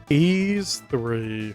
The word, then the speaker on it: Y's: did you want us to look at George eas3 yes properly pronounced e a e like the word e